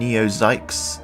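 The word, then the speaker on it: NEO XYX: with Redux Dark Matters and neozykes yes that is how you pronounce it I checked released this year and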